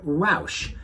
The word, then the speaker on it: Rausch: he used the word roush sounds a lot like my last name but it's spelled differently he actually spells it r-a-u-s-c-h and here's what he